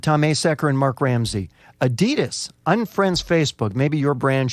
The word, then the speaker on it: Adidas: It's Adidas. What do you mean? I'm pronouncing it wrong? Because look, this is from the founder's name, Adolf Dassler. His nickname for Adolf was Adi, and he used Das instead of Adi Dassler, he called it Adi Das.